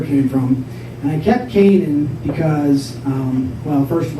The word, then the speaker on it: Kanin: it off and so i kept k-a-n-i-n but i pronounced it kanan because i wanted to